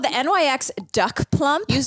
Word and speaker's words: Nyx: it it's called the Nyx duck plump you you pronounce it NYX I just realized that